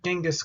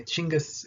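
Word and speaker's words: Chinggis: academic world so much anymore normally they'll say chingas because that was his actual name uh genghis khan is like a weird european uh alliteration for it that they tried to put together but anyway chingus is how you would pronounce it normally this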